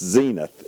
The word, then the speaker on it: Zenith: first um anybody on under 40 probably often pronounced as it Zenith zenth but but we would know it's Zenith it's the TV brand it's the TV brand